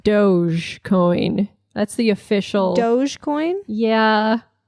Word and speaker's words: Dogecoin: God by the way I now own 50,000 doggy coin I bought more baby it's going up it is going up elon's on your side elon's on it's actually it is pronounced Dogecoin that's the official Dogecoin yeah but it's doggy